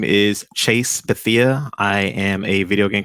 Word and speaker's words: Chase Bethea: So starting from your name, because I would not try to misspell it. So please. Absolutely. My name is Chase Bethea.